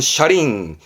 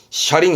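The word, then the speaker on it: 車輪: 그러면 차륜 이게 차바퀴 차바퀴 발음은 샤링 샤링 해 차바 귀에 박희자 이거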